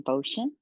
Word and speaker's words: Boschen: like to introduce Christine ban did I say that right you did rhymes with ocean okay ocean right thank